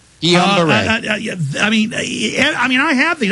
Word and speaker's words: Guillain-Barré: Am I pronouncing that right? Or Guillain-Barré? Guillain-Barré.